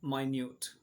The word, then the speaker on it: minute: और same spelling का word लेकिन डिफरेंट प्रोनाउंसिएशन और डिफरेंट मीनिंग के साथ हम इसको लेंगे और इसको हम पढ़ेंगे माइन्यूट।